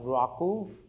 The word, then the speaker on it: RWKV: It's the first lecture and uh I'm going to bring your attention to this very interesting model called you know it's pronounced rau rw kv uh the full form being receptance